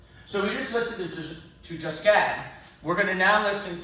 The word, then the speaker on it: Josquin: The Q is pronounced as Josquin, Franco-Flemish.